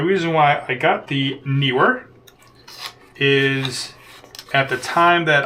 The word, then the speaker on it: Neewer: This is the newer or newer. I've always pronounced it new were quick release plate that